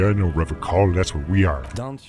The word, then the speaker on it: Revachol: Revachol. Well, now we know how it's pronounced.